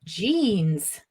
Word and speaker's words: genes: Okay, and finally, just this word here, jeans. Jeans. Jeans. It's the same pronunciation as the clothes, the trousers that you can wear.